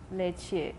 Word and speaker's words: leche: Such as the Spanish word for milk, which is written leche and pronounced. The second element in pronounced the. Pronounced what? That's IPA, you can read it.